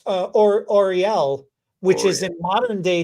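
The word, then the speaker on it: L'Oréal: see a r e no no it's it's pronounced or Orel which is in modern day time what we call the company Orel Orel okay and so is that that's the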